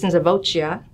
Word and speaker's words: Nisivoccia: ways, and we say Nisivoccia, but Raymond Nisivoccia, who come, you know, his wife says it's Nisivoccia. And I guess because in Italian, like you have to say the O.